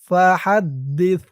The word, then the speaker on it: فحدث: হাদ, দাল সাজের দিস, ফা হাদ্দিস, ফার উচ্চারণটা নরম হবে।